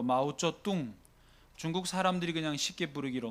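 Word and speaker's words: 毛泽东: 공화국으로 출범을 다시 하면서 모택동 중국 발음으로 마오쩌뚱 중국 사람들이 그냥 쉽게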